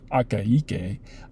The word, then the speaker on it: Akaike: out there who was named akaike uh yeah four syllables six phonemes it's fun anyways uh i'm